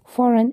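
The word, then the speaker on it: foreign: इसके डिजाइन align शंपान फॉरन N sign इसमें देखें तो जहां जहां भी जी एन से पहले आया है वह साइलेंट होगा नेक्स्ट आ जाता है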